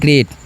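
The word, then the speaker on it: great: और इ है तो यहां पर जो है ना ए के लिए उच्चारण करना है। टी से तो इसे हम पढ़ते हैं ग्रेट।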